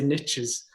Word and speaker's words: niche: Was it niches? Like niche. Yeah. So the Americans say niches. So niches bring riches.